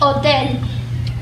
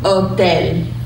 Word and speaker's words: hotel: say hotel in Spanish oh then simple as that she owed then so it's at the bottom of your screen the H is silent oh then okay get a good